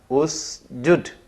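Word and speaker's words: اسجد: Karena huruf pertama mati, maka diberi huruf penolong berupa alif. Nanti dibacanya usjud.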